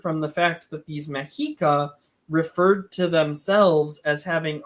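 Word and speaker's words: Mexica: word Aztec uh so those people didn't call themselves azex they called themselves mahika and um the reason Scholars call them Aztec is because the Modern Nation that's there today is called Mexico which is spelled with or Meiko which is spelled with an X or yeah with an X which is exactly how the mahika spelled their name and would be too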